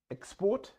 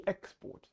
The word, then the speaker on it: export: Ударение на первый – существительный, ударение на второй – глагол. То же самое с export и export.